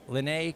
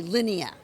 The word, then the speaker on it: Linnea: so super cool we are hanging out with Lynnae Quigley did I pronounce that right everybody walks up to you